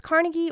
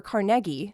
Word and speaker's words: Carnegie: Everywhere else I've lived, they say Carnegie, but here they say CargI with a bigger emphasis on the middle syllable.